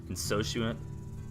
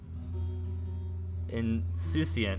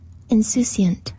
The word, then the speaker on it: Insouciant: Insocuent? How do you say that? Insouciant. Oh, let's hear it. Hang on. Insouciant. Insouciant. Showing a casual lack of concern. Indifferent. Insouciant. Insouciant. That's how you say it.